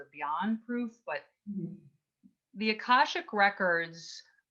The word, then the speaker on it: Akashic: say this word correctly ashaka how do you say that word it's akashic akashic see i knew i wasn't right akashic thank you readings